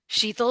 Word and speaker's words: Shital: But now when I introduce myself and I go Sheetal like lethal, it makes it so easy for people to say it correctly back to me.